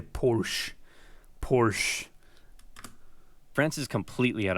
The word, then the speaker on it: Porsche: You all get brand new Porsches.